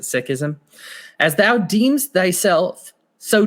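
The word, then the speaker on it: Sikhism: me more about um he pronounced it sism he pronounces it that way I've heard it pronounced sism I'll let him decide he's the expert so I'll go ahead and pronounce it sism as thou deems thyself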